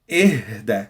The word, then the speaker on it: اهدى: Whereas the second phrase, you stress on the H. إهدى.